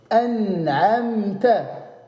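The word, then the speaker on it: أنعمت: C'est-à-dire le noun, il va être prononcé franchement, clairement, à 100%. Comme dans le mot, dans le Fatiha, An'amta.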